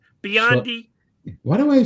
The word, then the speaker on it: Biondi: And for the Olympics right now, we have Mark Spitz, Jenny Thompson, Matt Bondi. Biondi. Why do I say it wrong? Biondi. Matt Biondi. No, there's an I in there, clearly.